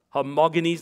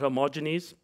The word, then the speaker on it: homogeneous: feiglous are morganised and it's a hard g not a juju uh soft g it's uh homogeneous not homogeneous um these uh these